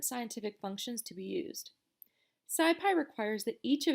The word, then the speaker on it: SciPy: in the numpy documentation sidepi stands for scientific python and is pronounced scipy the scipy library builds